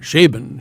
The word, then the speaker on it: Chabon: would know this do you say Michael CH chabon sh sh Shaban Shaban Michael Shaban see you that's like a